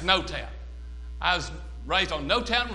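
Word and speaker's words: Noetown: Well, it's N-O-E, but it's pronounced No-Town.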